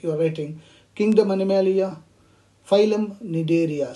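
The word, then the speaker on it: Cnidaria: waiting kingdom animalia phylum need area c cell and don't pronounce it as a synod area need area okay class hydrogel and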